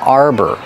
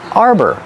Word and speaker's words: arbor: n this is an arbor Arbor pronunciation use the r like car and bar and the second syllable is er like Burger together Arbor this is